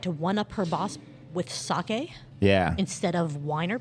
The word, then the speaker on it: sake: Caroline tried to one-up her boss with sake yeah.